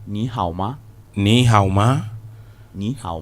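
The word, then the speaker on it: 你好吗: You say ni hao ma.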